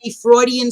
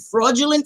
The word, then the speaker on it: Freudian: You meant to say Freudian slip. You said fraudulent slip.